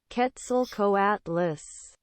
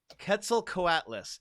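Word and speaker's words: Quetzalcoatlus: five but the the TL makes it like kind of it's closer to a k sound yeah in English full Atlas it's five syllables cats are quarters yeah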